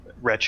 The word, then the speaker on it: Reche: Reche. It's like leche, but with an R at the beginning instead.